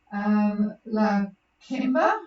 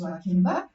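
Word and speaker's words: Lakeba: La Kimba, which looks like La Kiba, but it's pronounced La Kimba.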